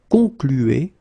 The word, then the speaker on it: conclu: Concluez, and then here conclu. Okay, keep in mind that even if you put this final ent, so the ending, you don't pronounce it. So phonetically you get conclu, conclu.